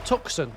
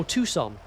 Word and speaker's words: Tucson: Lanasher, Yorkshire, Tuxen. Oh, Tucson.